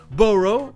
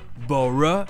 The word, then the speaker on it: borough: Et vous avez peut-être entendu que j'ai prononcé les deux O-U-G-H comme la première prononciation. Officiellement, c'est la prononciation américaine, O. But he's real thorough. Mais c'est notre deuxième prononciation parce qu'officiellement au Royaume-Uni ça se prononce E. Borough et thorough.